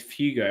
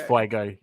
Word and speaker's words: Fuego: TK, it's Fugo. Am I saying it wrong? Yeah, it's Fuego. Fuego.